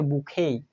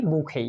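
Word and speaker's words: bouquet: হবে এটার উচ্চারণ হচ্ছে বুকেই এইখানে ই এবং টি এর উচ্চারণ হবে না এটার উচ্চারণ কি বুকেই কিন্তু আমরা যখন স্পেলিং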